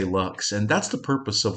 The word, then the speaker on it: Lux: I suppose I should pronounce it lux, but we're Americans, so we say Lux.